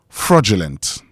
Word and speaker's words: fraudulent: F R A U D U L E N T. Fraudulent. Fraudulent. Okay. Even though you see D in there, that D in pronouncing the word becomes J.